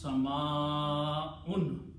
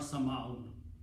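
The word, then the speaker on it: سماء: So if we are trying to read the Quran correctly, we should pronounce sama'un, not sama'un. Okay?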